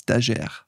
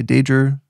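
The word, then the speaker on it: Dajer: up, before I moved, it's easy, it's Dahér. But in America, when I moved to America at 7, nobody knew how to pronounce my last name. And I was never really taught how to pronounce it. So sometimes I would say Dager. Some people would call me Dahair.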